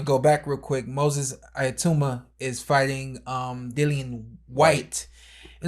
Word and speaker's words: Itauma: This kid, Itauma, right?